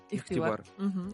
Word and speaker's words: ихтибар: Да, это что-то между «х» и «г».